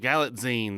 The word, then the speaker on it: Galitzine: George on Stars it's Julianne Moore and Nicholas galatine is that how gine galitzine that's it I never pronounced that correctly um it's pretty good and